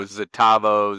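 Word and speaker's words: Xitavo: We like to pronounce X's as Z's. So just, you know, Zitavo, Zmium, you know, I could go down the list.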